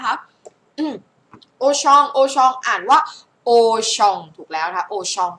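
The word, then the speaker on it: Auchan: หมด เลย นะ คะ โอชอง โอชอง อ่าน ว่า โอชอง ถูก แล้ว นะ คะ โอชอง ข้าง ล่าง อ่าน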